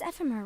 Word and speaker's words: Ephemer: Your name is Ephemer, right? Uh-huh. Ephemer. Hey, can I join you? I never knew how to pronounce that name until now.